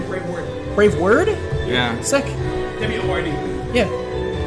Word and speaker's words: Braveword: Is it Braveworld or Braveword? Braveword.